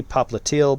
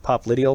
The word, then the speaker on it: popliteal: and then this one that i like to mispronounce it's actually popliteal but i like pop lydial because it really emphasizes the because that's how